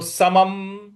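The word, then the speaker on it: समं: समम यहां जो समम के ऊपर जो अनुस्वार है उसके आगे प लिखा हुआ है, तो यहां पे सम जो अनुस्वार है उसका भी उच्चारण हम म ही लाएंगे। तो समम, समम इस प्रकार से बोलेंगे।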